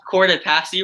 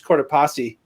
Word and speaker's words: Copasi: right what I pronounced cord passy wrong yeah that's not right it's an Italian name there's no there's no short a sound in Italian it's copasi copasi yeah oh well huh